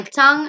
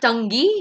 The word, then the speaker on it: tongue: And make sure how I articulate my lip, my mouth, my tongue, and my teeth.